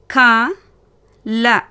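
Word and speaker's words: कल: முதல் வார்த்தை க ல. க ல. இதில் பார்த்தீங்கன்னா 2ஆம் எழுத்து வியஞ்சனில் முடிவாகிறது. அப்படி இருக்கிறப்போ எப்படி உச்சரிக்கணும்னா புள்ளி வச்ச மாதிரி உச்சரிக்கணும். இப்போ கேளுங்க நல்லா. க ல கல்.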